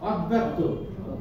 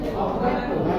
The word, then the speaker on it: অব্যক্ত: জগনাটা মাঝখানে বসে গেছে যখন এসে মাঝখানে বসে থাকবে তখন এই দ্বিতীয় উচ্চারণ করবে দুইবার কয়বার উচ্চারণ করবে দুইবার এই যে উচ্চারণ হয়ে যাবে এরকম ঠিক আছে হয়ে গেল এরকম অব্যস্ত অব্যক্ত বলেন বলেন সবাই বলেন